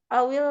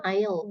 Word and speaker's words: I'll: Kemudian ini I'll, bacanya I'll ya, bukan I will.